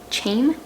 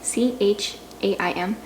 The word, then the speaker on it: Chaim: one last time because i don't know i pronounced this guy's name chaim c-h-a-i-m chaim was the one who heard the knock